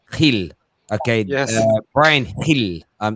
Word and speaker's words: Gil: You signed this young lad, I'm going to say it right, Gil.